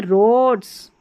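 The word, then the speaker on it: Rhodes: फिर यहाँ है रोड्स, रोड्स, अब रोड वो वाली रोड नहीं है, ROAD, स्थान का नाम है ये।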